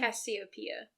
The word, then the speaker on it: Cassiopeia: But the mom was, like, Cassiopeia? Is that how you say her name? Cassiopeia.